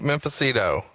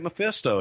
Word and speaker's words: Mephisto: The Great Memphicito. The Great Mephisto, Frankie Lane, man, he was a legend he's from your part of the woods in Alabama. Yeah, I just mispronounced the fuck out of it. My bad. That's okay. It's Great Mephisto.